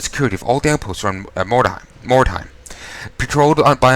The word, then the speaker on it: Mordheim: your not mispronouncing that I keep going to more daheim which is incorrect it's more time more time it doesn't sound like a word anymore Baron Vaughn this Dorf